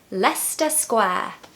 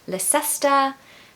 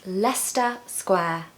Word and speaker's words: Leicester Square: you today let's get started number one is Leicester Square Leicester Square Leicester Square everyone knows where Leicester Square is it's very touristy busy but can everyone pronounce Leicester Square I hear people saying La sesta Leicester but no it's Leicester Square now remember